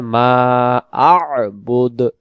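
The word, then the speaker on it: مَعْبُود: বুদ মা ববুদ হবে এখানে উচ্চারণ হবে মা আব বুদ মা আবুদ মা আ বুদ ওয়ালা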